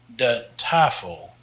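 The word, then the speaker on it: tafel: dos means the box the taffle the a here is long and that's because we've got a vowel consonant vowel if there were two consonants here in between then the a would be short and this means the table now this is a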